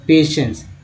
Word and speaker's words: patience: तो दोस्तों स के रूप में होता है, श हो गया ना, पेशेंस।